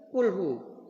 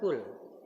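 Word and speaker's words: قل: Makanya harus ada penekanan q bukan kaf tapi qul.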